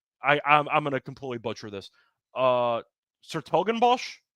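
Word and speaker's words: 's-Hertogenbosch: Sertogenbosch, I believe that's how it's pronounced.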